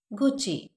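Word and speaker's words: Gucci: Next is गुची, गुची, गुची.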